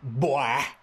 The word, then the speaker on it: boy: Not boy, boy. Got to put a W in front of the O.